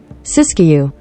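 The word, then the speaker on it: Siskiyou: whatever happened to English sisu I did say it right tell be damn I said something freaking right sisu cisu County so we got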